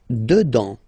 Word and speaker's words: dedans: Dedans. Final S not pronounced.